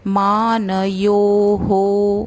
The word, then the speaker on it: मानयोः: यदि या होता तो हा रहता, तो यो है इसलिए मानयोः विसर्ग का उच्चारण हो।